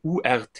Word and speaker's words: Urth: Erde und des Himmels aber Earth wird ja anders geschrieben also urth es wird ja gleich ausgesprochen im englischen im Deutschen würden